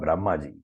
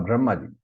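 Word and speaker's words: Brahmā: He is Lord Brahmaji. So remember here, Brahma, it's long A. Okay, Brahma. It's not Brahma.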